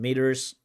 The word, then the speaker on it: meters: And he has American pronunciation meters with that very soft d instead of the t.